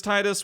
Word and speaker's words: Tidus: We're not saying that it is Titus. We're not saying that it is Tidus. We're just saying we're going to pronounce it Titus.